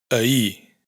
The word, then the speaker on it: ahir: Por otro lado, esta omisión de la R afecta especialmente a las palabras monosílabas y las agudas, es decir, las que tienen el acento en la última sílaba. Carrer, calle. Foscor, oscuridad. Ahir, ayer.